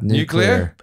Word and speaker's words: nuclear: My first day of college, I learned this because somebody said, you say the word new, and then you say the word clear.